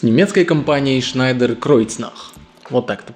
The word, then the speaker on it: Schneider-Kreuznach: Крючзнак Шnйдеer Кроицнах с немецкой компанией Schnйдеer Кройцнах. Вот так это произносится.